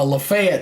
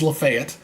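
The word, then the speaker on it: Lafayette: lrange five ports uh lefet here and that's how they pronounce it in Alabama by the way that is lefet just so you know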